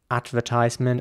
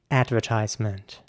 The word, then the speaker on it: advertisement: going at this stage in British English it would be advertisement or advertisement maybe even and an American English it would be advertisement advertisement with an a sound